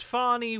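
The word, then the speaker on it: Fani: office they're dealing with Fannie Willis all the time Mr President the attorney again Mr President it's pronounced fonnie Willis how dare you also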